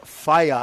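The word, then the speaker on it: whaea: riger te yeah so that wh EA that you see up there under New Zealand that's pronounced fire fire means atie and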